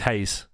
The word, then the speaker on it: Reis: And look, Vitor Reis doesn't look like Google pronounces Reis as Hayes.